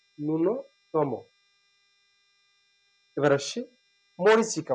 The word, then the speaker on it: ন্যূনতম: শুরুতে যদি জ ফলা থাকে অনেক সময় এ উচ্চারিত হয়, অনেক সময় হয় না। ন্যূনতম অর্থাৎ উচ্চারণ নেই, ন্যূনতম।